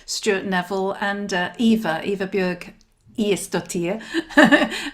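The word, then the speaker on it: Ægisdóttir: I mean, Nikki and Sean were absolutely delightful, and Stuart, Neville, and Eva Björg Iestottir. And I think I did actually pronounce it correctly. I checked it with her.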